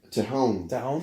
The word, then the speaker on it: Tejon: Tione is how you say it? Fuck, I've never even heard anybody say it. So it's Tione? Tejon.